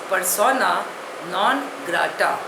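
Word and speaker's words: persona non grata: जी ी आर ए टी ए pronunciation is पसोना नॉन ग्रा इट इज अ Latin word it means अ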